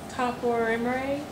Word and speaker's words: topoisomerase: How do you pronounce it? Topoisomerase.